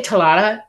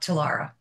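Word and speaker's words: Tlera: Yeah, I say Talara, but I have a weird accent, so it comes out that way, but it's T-L-E-R-A.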